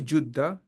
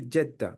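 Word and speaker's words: جدة: good so what is juda juda is actually JDA the one that we the city in the Saudi it is actual pronunciation is Juda but I think we say jda more often.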